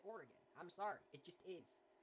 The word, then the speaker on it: Oregon: you pronounce it with if you pronounce it like gone instead of oregon like it doesn't roll off the tongue it's more fun to pronounce it oregon i'm sorry it just